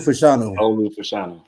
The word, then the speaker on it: Fashanu: Offensive lineman, the Penn State cat, how to pronounce his last name? What the fuck? Olu Fashanu.